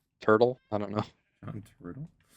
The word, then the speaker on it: Turturro: Uh, John Turturro, Turtle. I don't know. John Turtle. John Turturro. I don't know how to say his last name. John Travolta. Is that it? No, Turturro.